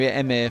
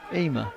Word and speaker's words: Ema: you confused me, because I've been calling you Emir for like years, and then it found, was it Ema? Ema. It's Ema, 42 months, legends.